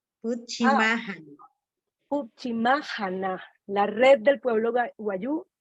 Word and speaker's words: Putchimaajana: Yo quisiera que me repitieras el nombre, Puchimayana, para aprender cómo es que lo debo pronunciar correctamente. Puchimájana, Puchimájana. Puchimájana, la red del pueblo guayú, Puchimájana.